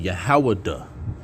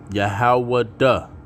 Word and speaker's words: Yahawah: Proper way to say that name would be Yahawah. All right. Yahawah, okay, which means celebrated.